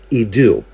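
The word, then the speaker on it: ἰδού: In the New Testament, it's pronounced idu.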